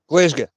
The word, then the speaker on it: Glasgow: Glasgow. Glazgia.